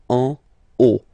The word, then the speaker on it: en haut: Okay, final T not pronounced, and then this H as previously, you don't pronounce it, so this is O. En haut.